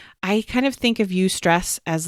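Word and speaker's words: eustress: negatively impacts us but the other kind is you stress it's spelled e-u-s-t-r-e-s-s if you want to go Google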